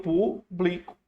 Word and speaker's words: publico: Eu pu, olha a pronúncia, eu pu blico.